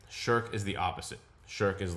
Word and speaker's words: Shirk: So sherk is a very like coarse uh grading word sherk. sherk and it's sort of